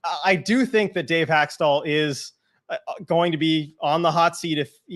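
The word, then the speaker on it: Hextall: Braun seems like the biggest problem might be wearing a suit and his name rhymes with Waxstall. Okay, this has started already. I do think that Dave Haxtell is going to be on the hot seat if they don't start winning.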